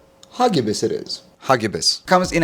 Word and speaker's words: Hagibis: you pronounce the name h a g i b i s the name hagibis is pronounced hais with the emphasis on the second syllable and a hard G sound like in go hbus it is hbus comes